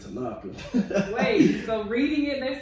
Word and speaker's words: Tanoka: they first of all they pronounce it wrong they say tanoka instead of tanaka wait so reading it